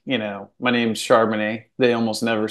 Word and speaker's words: Charbonnet: you know my name's charman they almost never said it and if they did they said it wrong theyd say pronounce it a different way chanet or you know charbon it or something else and so I'm like